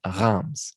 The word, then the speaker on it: Reims: But this one really has to come from the back of your throat. I think it's Reims. I'm not even sure the S gets any notice in there.